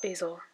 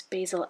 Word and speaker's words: basil: okay I don't have basil also my British in-laws see I'm blocking the screen when I do that okay my British in-laws pronounce basil as basil which sounds kind of nicer so I've been kind